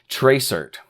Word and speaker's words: tracert: is going to be a command called Tracer and this this essentially just means trace route but it's spelled Trace RT or tracert and we're going to